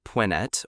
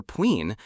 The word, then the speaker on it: Punt: The land of punt, pronounced pwinet or peen, was a vital trading partner of ancient Egypt.